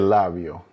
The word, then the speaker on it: labio: The A sounds like the A in father. The I sounds like the I in ski. The O sounds like the O in snow. All consistent with what I taught in our fundamental lesson on pronunciation of the vowels.